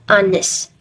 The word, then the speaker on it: honest: an honor and an honest in some of the sentence above the h letter is silent all right guys after